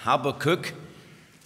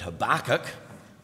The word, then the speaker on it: Habakkuk: to the book of habakkuk trust there's no Americans here they talk about Habakkuk but we'll just use the the English pronunciation it's Habakkuk and you if you